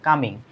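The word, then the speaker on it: calming: দেখো কালমিং হবে না। এলটা সাইলেন্ট থাকবে। কামিং। একটা হচ্ছে ঘুনাইমান।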